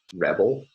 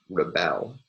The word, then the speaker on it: rebel: And the typical pattern in this regard is that nouns will usually have stress on the first syllable of the word, whereas the verbs will have stress on the second syllable.